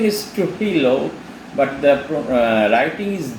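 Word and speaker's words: Trujillo: are there mentioned in the internet their pronunciation is to hello but the writing is j t r u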